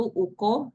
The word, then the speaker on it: UK: Dan tahun ini kita eh kongres and Speranto Universal atau kita sebutnya Uko ya. Uko itu U sama K gitu ya. K K K itu kan dibacanya KO kalau di bahasa Esperanto ya penyebutannya.